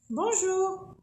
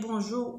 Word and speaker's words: bonjour: Mais on ne prononce pas. Le N, ça s'écrit, ça ne prononce pas.